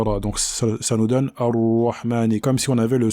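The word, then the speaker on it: الرحمن: Donc bien mettre en évidence la lettre Ha et ne pas la confondre avec la lettre Ha. Donc Ar-Rahmani et non pas Ar-Rahmani. Donc il faut bien prononcer la lettre Ha. Et il ne faut pas également l'avaler. On ne dit pas Ar-Rahmani, Ar-Rahmani, Ar-Rahmani. Il faut bien la prononcer en laissant l'air passer, car le Ha est une lettre dans laquelle l'air passe. Ar-Rahmani.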